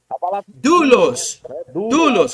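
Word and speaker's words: δοῦλος: de tongo próprio porque todo de tongo você tem que pronunciar duas letras A chama se por fusão são duas letras que se fundem para tornar um único Ok porão vocês vão ver por isso que e não é só lá na tua casaou lá mas Jesus comoos dulos a palavra servo dulos é e dulos beleza essa é questão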